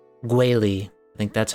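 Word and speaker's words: Guili Plains: It's usually like Guili.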